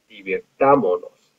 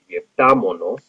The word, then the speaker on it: divirtámonos: it's going to be divirtámonos. Notice that we had to add an accent three syllables back, nos, mos, and then on the a, divirtámonos, and we had to